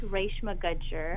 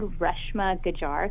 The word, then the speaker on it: Reshma Gajjar: so my name is Ray Shima Gudger meant growing up I I always said Reshma good jar kits phonetically in English